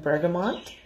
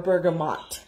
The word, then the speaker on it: bergamot: blossom, basil, peach, and bergamot. Or bergamot. I'm sorry, I always mispronounce that. I always want to say bergamot, but there's no N in there.